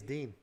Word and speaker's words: Din Thomas: Dean, he says. Yeah. Everyone says Din.